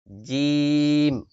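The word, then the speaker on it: ج: জিম, জিম। মুখটাকে সরাই দিবেন, জিম, জিম। মুখ ছড়াইয়া উচ্চারণ করবেন, জিম।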